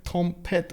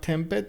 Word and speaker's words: Tompet: I know I got some suggestions from some of your team members about how to actually say your name. Tompet, right? It's not Tempet, it's or is it Tempoet or Tompet?